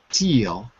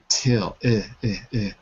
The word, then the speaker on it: till: it sounded fine but remember class it's the short eye and Rafa sounded good but it's very easy to accidentally say teal instead of till till so again if I